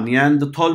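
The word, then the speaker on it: Neanderthal: नियांदरथल मैन, हाँ नियांदरथल बोलते हैं, आपको चाहिए तो नियांदरथल बोल दो ताकि स्पेलिंग राइट है।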